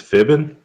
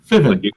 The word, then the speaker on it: Fiven: Did this guy say his name was Fibbin? Fiven.